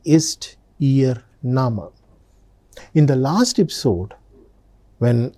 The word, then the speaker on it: Name: Look at the spelling. It's written just like English word name but the pronunciation is nama.